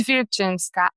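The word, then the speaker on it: Wilczyńska: because I'm Polish and my last name it's Vinska. No one knows how to pronounce it.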